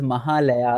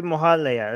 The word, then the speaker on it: Mahalaya: It is pronounced differently in different languages in India. In Bangla, we say Mohalaya. In Sanskrit, it is Mahalaya.